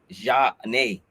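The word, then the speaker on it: Zhané: there for flavor and it's a french pronounced pronunciation ja nay uh that's why it's johnny they from philadelphia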